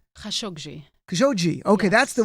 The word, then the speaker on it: Khashoggi: How do you pronounce the last name? Khashoggi.